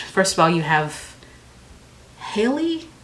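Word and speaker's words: Halle: of all you have Haley Holly Haley Haley right I think it's Haley I always get confused on how to pronounce her name because it's spelled like Holly but I think it's Haley so you have Haley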